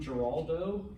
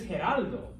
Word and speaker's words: Geraldo: for gerard um but knowing what you do now about the letter g his name is actually gerardo gerardo yeah uh the the one fox news correspondent he used to have his own talk show back in the day most of y'all are too young for that everyone calls them geraldo all right his name is geraldo you know now once